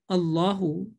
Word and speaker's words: Allah: according to the rules this lamu jalalala in the word allah will be pronounced with a full mouth with a heavy sound with a thick sound but if the previous